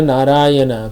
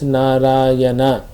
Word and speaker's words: Narayana: son, saying, "My dear Narayana, please come here." Although calling the name of his son, he nevertheless uttered the 4 syllables Narayana. People change it to Narayan.